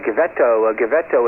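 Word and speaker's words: Givetto: Okay, Gavetto, is that the correct pronunciation? Yes, Bill.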